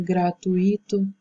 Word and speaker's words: gratuito: não existe, ou então ao deslocamento da sílaba tônica, aquela que é mais forte, no caso, em gratuito, né?